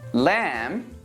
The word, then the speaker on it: lamb: a silent B are bomb comb crumb dumb lamb Lim Nam thumb if you're actually trying to pronounce the b in these words you're not